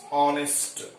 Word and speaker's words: honest: Next, honest boy. The same way, here H is silent and H is consonant, but it is giving vowel sound.